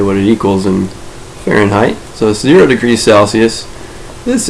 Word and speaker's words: Fahrenheit: how to spell it i pronounce it like that so far in height but it's fahrenheit if you pronounce it